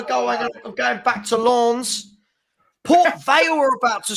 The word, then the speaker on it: Lens: He said it's Lens, not Longs.